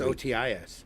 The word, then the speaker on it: Otis: That's OTIS. Yeah. But it's still the same pronunciation. Otis. Mhm. Otas.